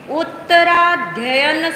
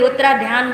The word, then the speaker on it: उत्तराध्ययन: है उत्तरा धन सूत्र बहुत से लोग इसे गलत प्रोनाउंस करते हैं इसलिए थोड़ा सा जोर दे रहे कोई उत्तरा ध्यान बोलता है बोल के देखिए आप बोलना आ रहा है ना बराबर हां उत्तर प्लस अध्ययन दो शब्द है इसमें अध्ययन का